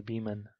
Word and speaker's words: Beaman: Su nombre era Louisa Beaman, así se pronuncia, ¿cierto? Beaman. sí, Beeman.